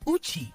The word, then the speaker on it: uchi: Vowel u is pronounced as oo, like oo in food. Like in the Shona word uchi, meaning honey.